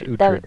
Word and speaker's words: Utred: How you pronounce it? Utrid. It's Utrid. Utrid. There, there we go.